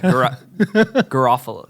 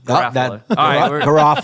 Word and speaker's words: Garofalo: Can I pronounce his last name? Yeah, Garofalo. Garofalo. Garofalo.